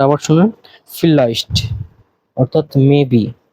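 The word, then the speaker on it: vielleicht: দেখতে পারবেন ইয়া নাইন হ্যাঁ না এরপর আরেকটা ফিল্লাইস্ট উচ্চারণটা আবার শুনেন ফিলাইস্ট অর্থাৎ মেবি বা সম্ভবত আপনি সিওর না 50-50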